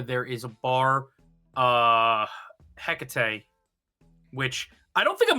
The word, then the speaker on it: Hecate: That's not how you pronounce that at all. That's uh I'm sorry you don't know how to pronounce ancient Greek. me. I'm a classics major. off. Hecate." That's pronounced with an uh not an ah the drink is takate.